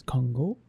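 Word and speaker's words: Kongo: Same thing with Congo. It's Congo. With that extra long O at the end.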